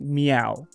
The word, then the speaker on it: MEOVV: I think it's pronounced Meow. At first, when I saw the name, I was like, is it MEOVV? Because it's two V's, but I think it's a play.